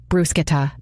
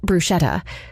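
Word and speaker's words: bruschetta: time to learn they'll order brushetta brusketa not brushetta with such ease that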